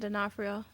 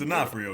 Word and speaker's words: D'Onofrio: I don't know if she's going to do it, but Vincent D'Onofrio as Vincent Kingpin.